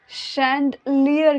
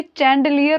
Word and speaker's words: chandelier: उसे शैंडलियर कहते हैं. शैंडलियर, शैंडलियर. इसे कोई भी चैंडलियर ना पढ़े या चंडलियर ना पढ़े प्लीज़. इसे शैंडलियर कहते हैं.